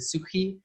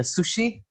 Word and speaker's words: Sukhi: pronunciation of my surnames sukhi in in asia they would say a sushi as that food so thank you so